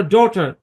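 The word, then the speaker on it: daughter: ভাওয়ালের পর জি এইচ থাকলে জি এইচ দুটোই সাইলেন্ট। রাইট, রাইট মানে সঠিক। তারপর ডটার, ভাওয়ালের পরে জি এইচ আছে, জি এইচ দুটোই সাইলেন্ট।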